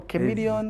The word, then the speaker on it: Chameleon: What is the correct way of pronouncing your name? Is it Chameleon or Chameleon? Chameleon.